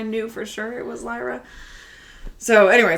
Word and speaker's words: Lyra: Sorry, I said LRA.